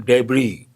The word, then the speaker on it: debris: One, debris. S is silent.